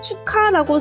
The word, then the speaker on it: 축하: 네, 기역과 히읗이 키읔이 됐죠? 이것을 정리하면 기역과 히읗이 합쳐져서 키읔이 된 것을 확인해 볼 수 있습니다.